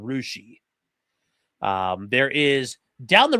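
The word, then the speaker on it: Russia: It's called Rushi. Um, there is down the road from Milin a town you might pronounce as Greenwich if you're from New England and it's pronounced Green Witch.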